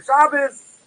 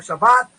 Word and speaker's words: Shabbat: A non-Jew arresting on a weekday, serving the day similar to a Shabbos, or to a Shabbat, if you're Sephardic, is obligated to die.